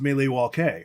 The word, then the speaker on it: Milwaukee: head which is actually it's pronounced melee wall K which is Algonquin a Cooper I know